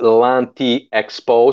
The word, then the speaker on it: L'Anti Expo: Okay, well, French is L'Anti Expo, so it is Anti Expo, meaning it's a demeanor on an expo.